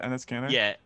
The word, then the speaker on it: Enes Kanter: I really like is that how you pronounce it? Enes Kanter?